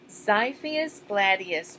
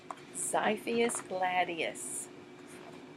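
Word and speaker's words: Xiphias gladius: letter X can you sometimes X sounds like Z let's see oops we found one X is four Sipho is Gladius pronounced by feeis this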